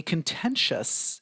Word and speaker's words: contentious: So a couple words here with stress on the second part.